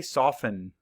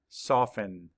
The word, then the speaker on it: soften: word is soften say soften map The Sounds S a f in soften the t is silent let's spell it s